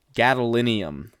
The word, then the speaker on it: gadolinium: Gadolinium.